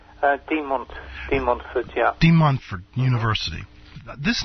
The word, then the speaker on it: De Montfort: So, this De Montfort University, am I pronouncing that correctly? De Montfort, yeah.